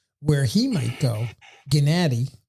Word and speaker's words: Gennady: Gennady, that's how you're supposed to say his name.